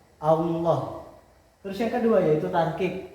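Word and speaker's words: الله: Contohnya Allah yaitu lam jalalah didahului oleh harakat fathah. Cara membacanya yaitu tebal. Posisi bibir agak mencorong ke depan. Allah.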